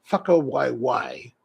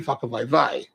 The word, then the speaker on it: whakawaiwai: I believe that it's pronounced whakawaiwai, according to what I've read. I haven't been able to hear anyone pronounce it, so I don't know. And the reason I'm a little bit confused is because in Hawaiian language, W's are typically pronounced with a V sound, right?